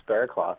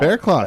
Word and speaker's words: Berrecloth: Like, how do you pronounce your last name? You got it right. It's Berrecloth. Oh. Berrecloth.